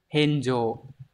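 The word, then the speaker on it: 返上: còn số 4 thôi Đây đọc là heno heno Hán tự là phản và thượng Từ này có nghĩa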